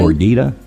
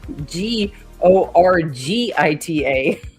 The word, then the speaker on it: gordita: Gordita. Gorga. G O R G I T A. I'm like, it's not a gorgita. It's a gordita.